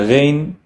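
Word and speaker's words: غ: And then the ghain is pronounced like gurgling of water. Ghain. Do not mistake it for which is like trying to get something out of your throat. But ghain is more trying to flap your glottis in order to gurgle the water.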